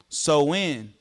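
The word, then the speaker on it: Samhain: The religious rituals of Sam Hine pronounced so in meaning summer's end focused on fire as winter approached.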